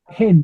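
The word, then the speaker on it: ἕν: Hen, perdón. Heis, mía hen. Repitan. Jeis mía en gen. Alguien dijo en es gen tiene espíritu rudo.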